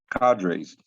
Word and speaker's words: cadres: how is that pronounced is it Carter's cadres thank you uh who gauging the